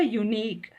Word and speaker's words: unique: it is given a unique because here u is pronounced with the y sound ya okay a unique